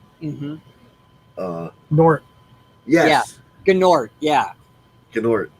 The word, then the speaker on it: Gnort: Gnort. No, it's pronounced Nort. Oh, it is. Gnort. The G is Yeah, the silent? G is silent.